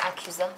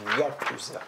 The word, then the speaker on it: yakuza: Je pense pas que ça Attends, s'écrit mais même accusant. Non, c'est pas accusa, c'est yakuza. Oui, il y en a dans mon jeu Tokyo Squirt Demolition.